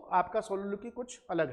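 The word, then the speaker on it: soliloquy: और वो आपका सोलोलोक्वी कुछ अलग है। इसको हम सही प्रोनाउंसिएशन है सलोलोक्वी, नॉट सोलोलोक्वी, इट इज सलोलोक्वी।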